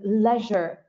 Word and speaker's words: leisure: just finish by saying leisure and recreation all right leisure is one of those words in english that you can pronounce in two ways you can say leisure and you can also say leisure what is the path